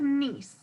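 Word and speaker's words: gneiss: going to go with nce I think that G right here is silent it's an interesting word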